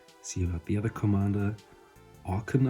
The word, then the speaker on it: Okaun: See about the other commander, Okaun, I think he's pronounced in English. I always thought he would be pronounced Okaun, like fauna kind of, the A-U-N.